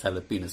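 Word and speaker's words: jalapeño: So it's a bit like jalapeno. The way you pronounce, way jalapeno is spelled is with J, but you pronounce it as jalapeno.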